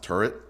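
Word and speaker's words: Tyrwhitt: who Charles his Charles turt is actually pronounced turret I've actually had in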